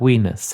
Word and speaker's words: Venus: history of ran time Venus was she was the Village bicycle when it came to the gods I'm not too sure about wenus however that's the pronunciation however the latinate pronunciation however I do know